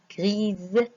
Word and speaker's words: grise: Une souris, grise. On a prononcé S-Z parce que elle se trouve entre deux voyelles, comme j'ai dit avant.